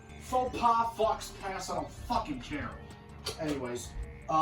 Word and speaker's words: faux pas: Oh, Michael, it's actually pronounced faux pas. Faux pas, Fox Pass, I don't fucking care.